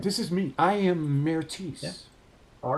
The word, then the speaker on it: Mertis: I gotta ask though, Mertis, that's Mertis, right? Yeah. That's how you spell that? Yeah. So it's Mertis. It's Mertis. It's French. Well, yeah, but it's spelled Mertis.